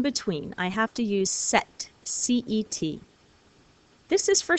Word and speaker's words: cet: all about the sound because it wouldn't sound right to say suit or air we say sect all rare we have that